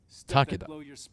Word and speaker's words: Takeda: Takeda. That's That's how you would pronounce that, actually.